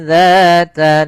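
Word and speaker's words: ذات: kalau ini disamarkan naron dza langsung ke huruf dalalnya sambil ditahan dengan gunah Kemudian pada lafal dza hati-hati jangan terbaca dengan za lahab dengan huruf zai karena di sini huruf dzal.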